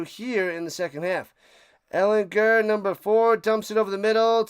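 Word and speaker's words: Ehlinger: They I guess uh he let everybody know it's a soft G cuz I've been calling him and people been calling him Ellinger for years, but it's Sam Ellinger.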